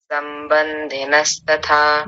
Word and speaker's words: संबंधिनस्तथा: दंत्य सकार को तालव्य शकार बना दिया था आपने। संबंधी ऐसा बोला था, जबकि क्या है, ठीक कीजिए। संबंधिनस्तथा।